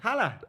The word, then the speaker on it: Haller: Haller.